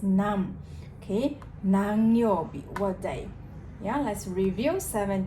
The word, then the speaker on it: 何: be there you'll be this kanji can be pronounced as nam okay yeah let's review